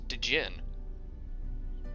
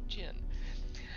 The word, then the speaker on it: djinn: It's funny when you write it D-G-I-N-N and people try to pronounce the D. They say people, a friend of mine would swore that, no, it's called, that's Dijin. Dijin. It's Jin.